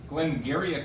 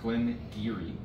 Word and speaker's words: Glen Garioch: in it uh but this is Glen giri Glen gak is how it reads but it's pronounced Glen giri uh this is the Renaissance it's an 18-year-old